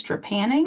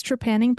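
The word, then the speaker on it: trepanning: saying it right but I think it's tranning I'm GNA go with I'm pretty sure it's tranning because that's how James maoy pronounces it in his dark materials okay that is okay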